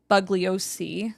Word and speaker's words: Bugliosi: attorney uh Vincent uh bugliosi bugliosi or bugliosi bosi yeah yeah sorry that's Vince the bug well because it's spelled like bug but it's booly o bo um so Manson